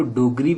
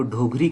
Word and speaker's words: ढोगरी: Actually में इसको डोगरी pronounce नहीं करेंगे, इसको ढोगरी कह सकते हैं आप।